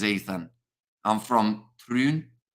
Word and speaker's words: Troon: I'm from Troon. Troon. Is that how you say it? Troon.